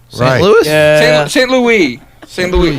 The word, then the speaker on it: St. Louis: St. Louis. We say it like the French.